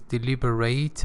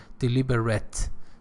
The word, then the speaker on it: deliberate: it is a noun, it is a verb, so it is deliberate. If it were an adjective, it would be pronounced as deliberate.